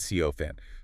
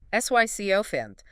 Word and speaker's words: sycophant: Sycopant. Three syllables. Stress on the first. Sycopant.